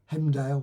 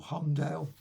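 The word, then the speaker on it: Heimdall: You got him obviously Hemdale or Humdale, however you pronounce it. Or is it? No. Oh yes, Hemdale.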